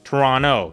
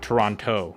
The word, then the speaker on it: Toronto: I guess the locals don't pronounce the T. Toronto, not Toronto.